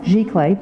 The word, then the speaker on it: giclée: The other thing was the photographers utilized, I'm not going to pronounce it right, but the Giclée, how do you pronounce it? Prints? Giclée, thank you.